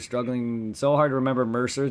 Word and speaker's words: Mercer: He's like, thank you, Merc, and I'm like, the C makes an S sound. He's like, okay, Mercer, and then Yeah, he finally got it. He said, okay, Mercer.